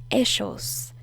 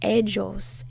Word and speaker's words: ellos: in argentina we say eschos eschos and in some other countries they say egos egos so the most common forms are eschos in mexico they say ellos in argentina we say eschos but um but i'm